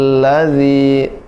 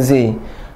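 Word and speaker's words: الذي: Bismi rabbikal ladzi, bukan zi, alladzi khalaq, tidak boleh khalaq, tidak boleh ada hamzah, tidak ke, ya, tapi dipantulkan khalaq.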